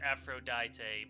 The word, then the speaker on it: Aphrodite: Elvis Park asking that the English pronunciation is Aphrodite but uh official well like there's like other languages where it's Aphrodite okay so it's the exact same name it's just a language difference yeah I mean I